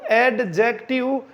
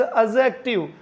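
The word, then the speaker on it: adjective: डी के बाद में अगर कहीं भी जे आता है किसी भी वर्ड में तो वहाँ जे विल बी साइलेंट, वो जे साइलेंट रहेगा अकॉर्डिंग टू फोनोलॉजी, ध्वनि विज्ञान के अनुसार।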